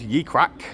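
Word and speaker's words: Ye Cracke: Uh it's spelled ye e crack with an e on the end. Ye crack.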